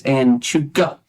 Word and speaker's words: Anchuca: And in this beautiful edifice, this historic mansion, it is, now correct me if I'm wrong, but it's Anchuka. Anchuka.